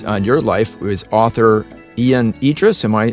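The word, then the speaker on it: Ion Idriess: a positive influence on your life was author Ian Idis am I pronouncing the name right that's correct yeah yep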